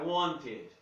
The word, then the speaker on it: wanted: Bom, se ele termina em T, eu pronuncio o E, lembram do outro vídeo? Então é I wanted. I wanted.